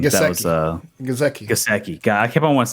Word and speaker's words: Gesicki: Grzinski. What was his name? Gesicki. That was Gesicki.